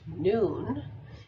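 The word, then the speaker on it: nun: force being expressed here the hebrew letter none pronounced noon is attributed to key 13.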